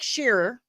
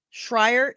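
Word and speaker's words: Schreier: the director of Thunderbolt, aka the new Avengers, Jake Sheerer. Shrier, it's Shrier.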